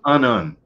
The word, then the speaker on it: unun: Now, an unun, or your onion, it is pronounced unun, is unbalanced to unbalanced.